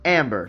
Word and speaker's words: Ambre: said that that Amber is pronounced without the E. So I'm going to assume that that that it's pronounced Amber.